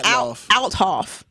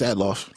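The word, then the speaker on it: Althoff: her name is Bobby how do you say atof I want to say outof no it's atof do I I'll respect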